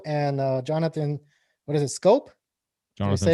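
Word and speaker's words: Schoop: is Ryan Mountcastle and Jonathan, what is it, Scope? Jonathan Did I say it right? Scope.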